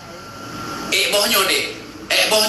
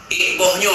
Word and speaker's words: bohnyo: Yang benar pengucapan tadi, dek, bohnyo dek, mau buah ini dek.